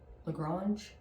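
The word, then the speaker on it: LaGrange: the lrange is that go say that's how you say it lrange Georgia detectives received a call about a robbery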